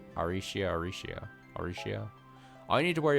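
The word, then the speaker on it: Arecia: I like how her name is it's Aricia Alrecia. But they say it like Aricia.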